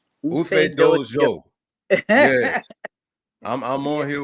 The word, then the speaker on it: Ufedoojo: Ufedoojo. Ufedoojo.